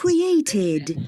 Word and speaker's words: created: Id. Questa è chiarissima. Created. Id. Directed.